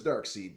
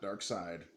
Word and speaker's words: Darkseid: cyborg and darksied yes his name is dark seed not Darkseid let's learn to pronounce